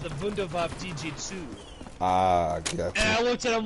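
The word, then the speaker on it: Wunderwaffe DG-2: womp he says no the w's are v's he says he's pronounced the vundevaf dg2 ah i looked at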